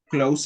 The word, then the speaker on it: closed: Closed? Closed. Closed. Closed. With the letter D at the end, all right?